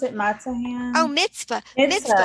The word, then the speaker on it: mitzvah: have uh mata hands is that how you pronounce it mata ham oh mitzvah it is it's about using our hands and